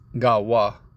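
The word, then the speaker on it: גוי: people right again uh gawa all right uh that's the proper way to say it okay all right then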